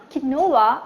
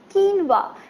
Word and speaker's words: quinoa: so it's called quinoa right it's not Canova it's quinoa and its really nutritious